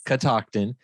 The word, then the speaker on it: Catoctin: name is is unique I'm sure you get it pronounced a million different ways but it's Catoctin and where does that